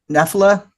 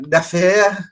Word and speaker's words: Nephila: me about now again Nephila. Yeah. Oh wow, okay, good. It's more of an American pronunciation on the band name, actually.